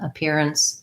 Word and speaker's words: appearance: appearance sounds like my stress is on the peer. And then my ns syllable almost has no vowel, so it's just kind of like an ns, appearance.